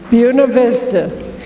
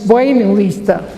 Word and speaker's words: Buena Vista: names requested that it be pronounced the american way buena vista instead of the spanish bueno lista most of the natives